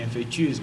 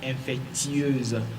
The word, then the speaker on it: infectieuse: Il y a le i que nous avalons, mais que nous devons forcément prononcer parce que l'adjectif infectieux vient de infection. Il y a i qu'on ne doit pas oublier, infectieuse.